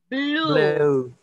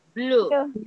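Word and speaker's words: blew: Blue. Se escribe, sí, se escribe con E, pero se pronuncia con U. Blue.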